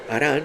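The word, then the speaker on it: Harán: y los trajo a una ciudad vecina que se llama Jarán con J, mientras que el nombre de Arán es con H, la del hijo se escribe igual en la Reina Valera, pero la pronunciación es diferente.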